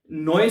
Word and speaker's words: neu: बस इन्होंने नोए से ही पढ़ा है और बाज लोग इसको न्यू पढ़ जाते हैं।